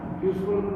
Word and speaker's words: useful: En la segunda, use, ahí sí en la useful, ¿se pronuncia la E? No, la E es muda.